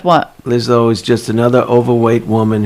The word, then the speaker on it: Lizzo: What is Lizzo. it? Lizzo. Why are you adding extra syllables?